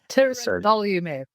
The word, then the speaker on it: tiragolumab: Tiragolumab. Thank you. And Stress on the third.